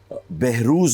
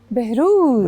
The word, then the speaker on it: Behroze: Behrouz is the correct pronunciation. Behrouz.